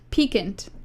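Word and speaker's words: piquant: pronounce can you just do that and it'll pronounce it for you yes okay I'll give you a YouTube link peakant okay peakant all right peakant PE we've got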